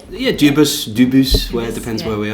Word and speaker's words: Dubus: Yeah, Dubus, where it depends where we are.